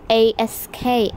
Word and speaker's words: ask: the correct answer is a s k ask and this is because in ask we say s sound and then the k sound but in X we